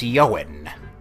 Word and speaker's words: Ioan: Name's Yoan. How do you spell that? Ioan. Yoan Uther.